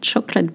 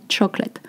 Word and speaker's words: chocolat: Alors, chocolate bread. Notice that we say chocolat, not chocolate.